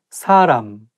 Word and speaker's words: 사람: 시장에 가면 맛있는 음식을 쉽게 먹을 수 있습니다 사람 beof and 사람 사람 so shouldn't be so